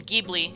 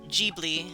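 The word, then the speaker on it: Ghibli: G this is again gebi uh if you look at or jbi as it's supposed to be pronounced I learned uh GBL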